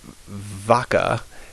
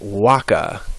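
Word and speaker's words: vacca: like K's um now V's are always pronounced like W's so this first word it looks like vaka but it's pronounced Waka w w Waka as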